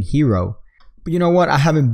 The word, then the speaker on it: gyro: without correcting me so he corrects me by saying hero you know what I